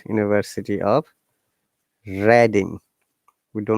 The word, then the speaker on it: Reading: kingdom there is an university called university of redding we do not say reading university of redding in the reading city of